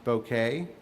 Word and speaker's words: bokeh: I believe it's pronounced bokeh. Bokeh, that's what it is, bokeh.